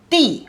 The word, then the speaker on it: 的: So here pronunciation de, here is di. So remember, when its pronunciation is de, always a noun followed it. Noun followed de. The third pronunciation is the second tone.